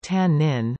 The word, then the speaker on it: תנין: Some creationist organizations propose that the Hebrew word tannin, tannin pronounced tannin, mentioned nearly 30 times in the Old Testament, should be considered a synonym.